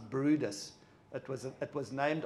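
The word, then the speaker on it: Bryde's: that's my favorite whale that's called a bride's whale or it's pronounced Brutus it was it was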